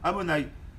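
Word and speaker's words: אדני: On l'écrit Yud Ke Vav Ke, mais on le prononce Amonai.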